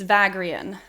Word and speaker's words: Vagrein: time for us well i'm pronouncing it the only way i know how to read it because i've never heard the name it's vagrian yeah yeah i thought